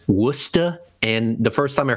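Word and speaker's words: Worcester: accent apparently uh um it's not Worchester it's wora and the first time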